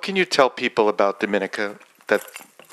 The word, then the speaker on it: Dominica: my country name is Dominica we are not Dominican Republic so it's pronounced differently um we are about